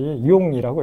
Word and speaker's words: jung: 독일어에서 이제 JUNG 그러면 이제 방금 말씀드렸듯이 융이라고 읽혀요.